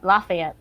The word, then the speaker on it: Lafayette: Is that how you pronounce it? Lafayette? Lafayette.